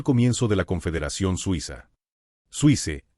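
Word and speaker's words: Suisse: Suice es la pronunciación francesa de Suiza.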